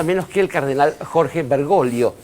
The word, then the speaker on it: Bergoglio: que el cardenal Jorge bergolo que es así como se pronuncia Aunque de a quién